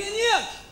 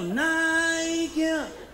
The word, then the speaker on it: Nike: Porra, tá de caô, que isso, que nick, se escreve nick. Mas aqui no Rio, a gente chama de Nike. Repita comigo, Nike.